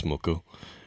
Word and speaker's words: MUCC: It's a band called MUCC, and it's spelled MUCC, all caps. I've heard different pronunciations, but I believe it's MUCC.